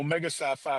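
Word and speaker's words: Omega Psi Phi: Should How How do you pronounce So I don't say anything disrespectful? Omega Sci-Fi Fraternity Incorporated, sir.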